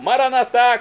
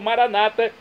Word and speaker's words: Maranatá: E agora, do aramaico, dialeto de Jesus, eu clamo, Maranatá, como dizemos nós católicos, ou Maranata, como dizem nossos irmãos separados, os evangélicos ou protestantes. Não importa a pronúncia, o significado é o mesmo.